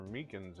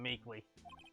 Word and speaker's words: Meekins: Officer Meekins at the detention center told us. Oh, that poor little doggy. Oh, God. Poor guy. I keep getting his name wrong and calling him Meekly. Meekly.